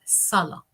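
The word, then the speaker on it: صلاة: Entonces, te voy a escribir sala. Significa oración. Es una sa fuerte, no es se, es sa. Como duplicado la letra, duplicada. Sala.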